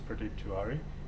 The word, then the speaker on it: Pradeep Tiwari: respects to the traditional landowners my name is pradeep tuary she said it correctly she pronounced it correctly so i'm standing as an